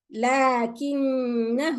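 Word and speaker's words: لكنه: But when I continue, it's lakinnahu wallah. Lakinnahu wallah. Okay? I bring the ghunna of the noon and I continue to the ha. There is no madda.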